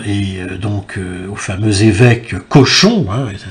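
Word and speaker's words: Cauchon: Seulement, pour cela, ils la confieront à l'Église, hein, et donc au fameux évêque Cochon, hein, et ça s'écrit C-A-U, C-H-O-N, hein, Pierre Cochon, évêque de Rouen, qui va donc instruire son procès.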